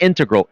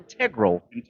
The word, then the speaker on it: integral: Pronunciation, not integral, integral. It's so elegant the way you say it. The pronunciation. Integral. Yeah. Really? Right? You like that? Versus. Integral. Oh, yeah, I mean you can pronounce it both ways.